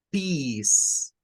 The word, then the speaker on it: peace: que esta no suena, esta C suena a una S, a una S, y el diptongo EA en el inglés, cuando encontremos la combinación de una E con una A, no suena a EA, suena a una vocal I, como que fuera la I nuestra, pero es un sonido más prolongado.